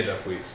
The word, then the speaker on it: Jacquees: So first off, I appreciate that Jacquees, is that how you say it? Yeah, Jacquees.